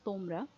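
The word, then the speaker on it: তোমরা: For the other one also, the other informal one was tomra. That ta was also dental ta.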